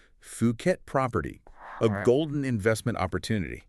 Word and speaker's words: Phuket: brought us an intriguing article today titled Fuket Property, a golden investment opportunity. Yeah. And right off the bat, let's make sure we're all on the same page with the name. It's pronounced Puket. Okay. Puket.